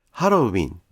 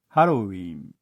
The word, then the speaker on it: ハロウィン: ましたが、1998 年からハロウィンと書かれるようになりました。